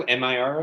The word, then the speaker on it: Miro: I'm saying it wrong. I'm mixing it wrong. Micro. I call it Micro, but Miro, I think it is, yeah.